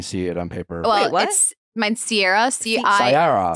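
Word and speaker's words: Ciara: very patient about no mine Sierra spelled c i a r a and it was like that is very confusing when you see it on paper mine Sierra CRA c i a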